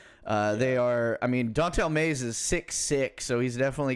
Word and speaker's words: Dontel Mays: Dontel Mays. I love the way his name is spelt because it's like don't tell Mays.